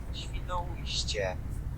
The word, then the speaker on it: Świnoujście: En polonais, ça se dit. Świnoujście.